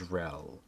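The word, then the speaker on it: Yryel: keep is just beyond it is known as rel that information alone should be enough to let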